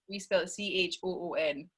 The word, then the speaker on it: choon: We spell it Sorry. CHOON.